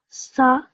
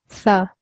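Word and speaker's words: ث: This tha should be a bit softer. Sa. To pronounce the tha, your tongue should be in between your top and bottom teeth, or your tongue could touch the top of your teeth.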